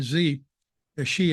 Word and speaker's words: Xi: chairman Mau I mean z she I'm told this is the right pronunciation I kept mispronouncing his